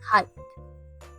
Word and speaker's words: height: First, we start with the h sounds like in the word hat. And then we add the a sound like in the word my.